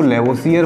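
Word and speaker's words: Lavoisier: देखिए इंग्लिश में तो इसको लेवोसियर बोला जाता है, लेकिन हिंदी में इसको लेवोसिये बोला जाता है, आर साइलेंट रहता है वहाँ पे, इंग्लिश में इसमें आर है लेवोसियर, और हिंदी में जब बोलेंगे इसको तो यहाँ से आर इसका साइलेंट रहता है, यानी इसको बोला जाएगा हिंदी में लेवोसिये।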